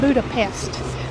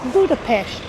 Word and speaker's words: Budapest: We've always called it Budapest, but it's Budapest. Our program director told us that we don't want to say pest because a pest is a nuisance, and Budapest is nothing like a nuisance.